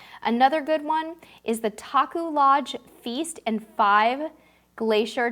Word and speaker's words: Taku: does that sound so that's Taku lounge I lodged and it's spelled tak you oh okay so how